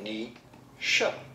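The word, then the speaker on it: Naoise: Nisha, right? Is that correct? We are looking at how to pronounce this important character of the Irish mythology, Nisha. Yes! Nisha.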